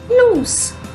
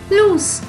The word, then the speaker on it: loose: double o s e has a s sound at the end loose loose so lose lose let's